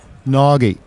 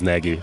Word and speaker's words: Nagy: correct the people but the correct pronunciation of my name is via technology that's a hot ya know nagi yeah it's pretty hard for you because there is no such pronunciation in your language so I'm usually I use naggy so this is the easiest way for me as well okay so I mean